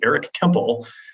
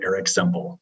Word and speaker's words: Kemple: So I'm sometimes a man of many names, but it is Eric Kemple, even though I often get Eric Semple.